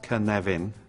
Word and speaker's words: Cynefin: this is the Canadian framework pronounced kan leven and for those of